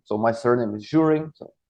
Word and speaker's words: Zhurin: So my surname is Zhurin.